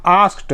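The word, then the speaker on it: asked: आस्क्ड यहाँ पे डी को टी उच्चारित करेंगे, क्योंकि जब भी किसी शब्द का अंतिम अक्षर उसका उच्चारण फ, स, च, प, क इन अक्षरों से होता है तो उसके बाद लगे ईडी को हम टी पढ़ते हैं, ट उच्चारित करते हैं।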